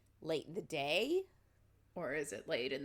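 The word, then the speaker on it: Dae: So, like, late in the day?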